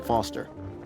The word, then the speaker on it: Foster: pickle so it does i'm foster i'll remember that easy because your name rhymes with fossil and you're old thanks